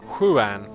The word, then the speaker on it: Juan: Juan is pronounced Huan.